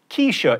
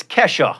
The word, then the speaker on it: Kesha: wanted to seem relatable, I referred to the music of Keisha. It turns out I was mispronouncing the dollar sign. It's Kesha.